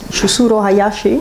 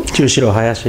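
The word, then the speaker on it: Chushiro Hayashi: The, let's see if I pronounce it correctly, is from the Japan Society for Science, Chusuro Hayashi. Chusuro Hayashi, yeah.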